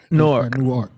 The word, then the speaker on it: Newark: See, I pronounced it right this time. Newark, AD. It's one word. Newark. Newark. So like N-O-R-K, Newark.